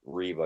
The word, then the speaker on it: Riva: And I always made a funny acronym for the city reeva because it's spelled riva.